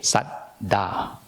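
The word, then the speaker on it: saddhā: The Pali word, the language spoken by the Buddha, Saddha. You pronounce it as S-A-D, Sat, and then D-H-A, Saddha.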